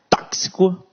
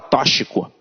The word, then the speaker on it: tóxico: gramática tóxico tóxico né tóxico Olha tem gente que fala tóxico é tóxico e semântica então aqui